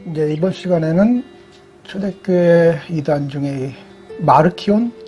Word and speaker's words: 마르키온: 전 시간에 이어서 오늘 이번 시간에는 초대교회 이단 중에 마르키온, 네, 마르시온이라고도 하고 뭐가 맞는 거예요? 영어식 발음이겠죠? 마르시온, 마르키온이 맞는 발음이겠지. 이 영어 발음을 하면서 발음이 엄청나게 망가진 게 많거든요.